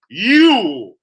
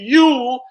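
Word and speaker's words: Jul: And then, even though it's spelled with a J, you still pronounce it Yule. You'll still pronounce it Yule like with a Y.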